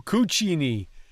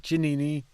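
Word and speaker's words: zucchini: kosa chinini kuchini oh cuchini kosa cuchini kosa cuchini not chinini kosa Chini cini kosa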